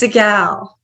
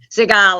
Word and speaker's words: Cygalle: I make sure I pronounce it correctly it's sigal Seagal I did pronounce it correctly well you are absolutely a